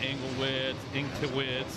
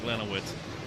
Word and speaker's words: Glenowitz: I always call them Englewitz, and, you know, just for the fun of it. But, yeah, Glenowitz, absolutely how it's spelled.